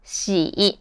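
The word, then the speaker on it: 喜: especially during spring festival the second character is shi i've mentioned this in a previous video that for a lot of people who speak english it's hard to differentiate the chinese initial shi from the sh in english so next time if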